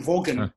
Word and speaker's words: Vaughan: Yeah, V-A-U-G-H-A-N. So it's written Vaughan, but it's pronounced Vaughan.